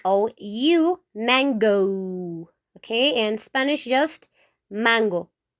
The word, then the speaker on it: mango: In English, you say mango, okay? In Spanish, you have to say mango, mango, mango. Okay, in English, it's like, oh, you mango.